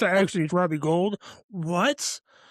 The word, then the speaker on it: Gould: Just make sure you get the official pronunciation out there early. That way, we're not calling you Robbie Gould for 20 or 10 years. And it's actually Robbie Gold.